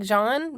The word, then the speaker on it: Jean: name of Jean and it's spelled like Jean so I'm not sure why she pronounces it like John but she does so John Meers it